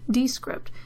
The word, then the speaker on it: Descript: the episode show notes it's called D it's spelled des CR IPT comm D script it will create really